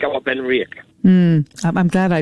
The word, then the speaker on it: Benriach: want to drink something more unique like our been rick i'm glad i pronounced it correctly i was waiting for you